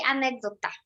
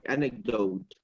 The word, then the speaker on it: anecdote: how do you say anecdota? A story. No, a anecdote.